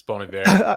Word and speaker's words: Bon Iver: It's Bon Iver.